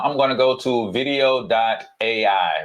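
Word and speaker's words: Vidyo AI: going to go to video. a right I think I called it video. before it's video. a and it's spelled a little different VI d yo. a right if I just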